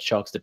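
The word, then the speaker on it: Shox: Shocks, the host, which, yeah, it's just pronounced like Shocks, our player.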